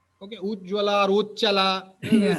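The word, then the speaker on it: উচ্ছল: Now also that word Uchchala Jaladi Taranga, that Uchchala is many times pronounced as Ujjvala. Okay, Ujjvala or Uchchala, Yeah.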